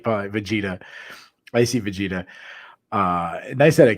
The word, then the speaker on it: Vegeta: I guess I say that name wrong. It's Vegeta.